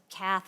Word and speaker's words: Kath: I always tell people my crowning joy is that my name rhymes with the organization I work with, so it's Kath from Path, very easy to remember, and I'm happy to talk to any of you.